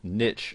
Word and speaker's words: niche: And the first and foremost, you'll need to decide what your niche, or niche as some people pronounce it, is going to be.